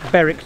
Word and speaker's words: Berwick: We're at Berwick Church.